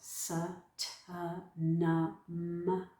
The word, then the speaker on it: Sa Ta Na Ma: So this Sa Ta Na Ma, it's the Sa Ta Na Ma, the sounds of the Sat Nam. So we really enunciate with the syllables.